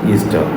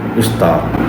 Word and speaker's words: Ishtar: Ishtar isn't pronounced Easter. It's pronounced exactly as it is written, Ishtar.